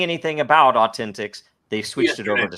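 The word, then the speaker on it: AU10TIX: uh uh how do you pronounce it it's pronounced uh Authentics Authentics uh is an Israeli company that was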